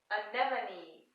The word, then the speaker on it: anemone: Anemone. So what does the last E in anemone, what sound does it make? It makes a long E sound.